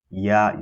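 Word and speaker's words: ياء: Ya is pronounced using the middle of the tongue and opposite this region from the roof of the mouth, like so.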